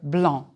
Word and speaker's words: blanc: C is not pronounced in the color blanc.